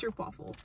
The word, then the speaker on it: Stroopwafel: How do you pronounce that, Merce? Stroopwafel.